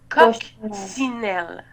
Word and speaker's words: coccinelle: coquine elle ok donc il ya 2 si le premier se prononce que et le deuxième c'est donc ça fait une coccinelle ou coccinelles parfait et